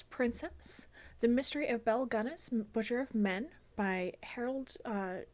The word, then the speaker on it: Gunness: So the book starts off with the Ballad of Belle Gunness. I've heard it sometimes pronounced Belle Guinness, but there's no I in the name and it's Norwegian, so I would assume it's actually Gunness.